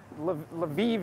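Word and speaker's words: Львів: I'm heading to tonight l'viv l'viv is how you say it in Ukrainian but in Russian it's a little likewise with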